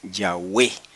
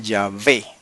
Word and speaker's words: Yahweh: base para entender que la forma antigua y correcta del nombre sagrado es Yahweh solamente que se puede pronunciar yahvé si usted quiere según el hebreo moderno pero el hebreo antiguo era yahwe hermanos no cierren los